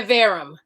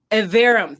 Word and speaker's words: Iverem: am please tell me you said were you pronouncing your name yeah evarum evarum thank you very much yes correct me evarum thank you we forgot to rehearse that it's